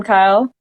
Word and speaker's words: Kayle: just looking at like i want to say kyle but i feel like it's going to be pronounced something else and i'm going to look stupid but you're right this kyle is okay well see